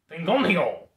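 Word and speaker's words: 피곤해요: Pigonhaeyo.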